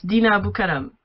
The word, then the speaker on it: Dina Abou Karam: And Dina Abou Karam. Hi, how are you? No, you had just said it right. It's Dina Abou Karam.